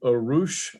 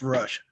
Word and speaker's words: Rush: your name correct rush it's pronounced rush rush okay go ahead good